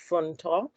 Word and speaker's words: Funto: It's pronounced Funto.